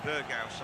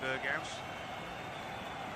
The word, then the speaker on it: Berghuis: Yeah, they were pronouncing it Berghaus on the TV, so I'm thinking they might have got it right. You never know. So that's what I'm going with today, Berghaus.